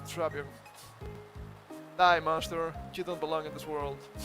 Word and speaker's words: Drapion: Rapping was including a segment featuring commonly mispronounced Pokemon names in 2025 Pokemon World Championships, where the pronunciation of the name was given as Trap-E-On. That was correct, Trapion.